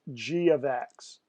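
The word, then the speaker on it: g(x): this this G parenthesis X close parenthesis is pronounced G of X and if I said let's look what G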